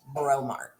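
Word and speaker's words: Breaux Mart: local family owned yeah b-r-e-a-u-x Mart bromart learning New Orleans speak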